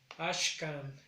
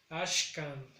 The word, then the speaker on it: Ashkan: En el caso de hoy es Ashkan. Igual recae en la primera sílaba el sonido más grave, que es Ashkan.